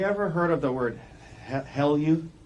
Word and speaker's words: HALEU: Actually, have you ever heard of the word Heleu? How do you say H-E-L-E-U? Haleu. Haleu.